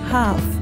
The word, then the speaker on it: half: Primero, nota que decimos half. La L no se pronuncia.